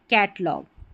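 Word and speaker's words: catalogue: नहीं ग हो जाएगा जी यू ई किसी भी स्पेलिंग के आख आखिर में आता है तो इसको ग पढ़ते हैं। टंग डायलॉग कैटलॉग ये स्पेलिंग्स हैं।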